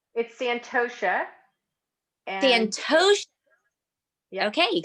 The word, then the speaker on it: Santosha: Oh, it's Santosha.